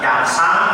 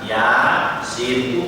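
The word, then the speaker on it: يس: Ya dan sin tidak dibaca yasa atau yas, tapi dibaca ya, sin, utuh huruf-hurufnya itu. Makanya disebut harfi.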